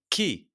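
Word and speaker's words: Kyiv: have since seen that everyone just calls them key so we'll just go with that Lil versus key who lost their opening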